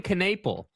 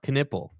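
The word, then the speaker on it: Knueppel: bro how many canip everyone was saying canaple and he was like no dude it's like the body part canle shut up like just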